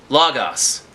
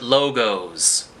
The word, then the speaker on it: Lagos: the bookstore on pacific the place is called lagos pronounced lagos but the people who ride those scooters call it logos the guilt would pass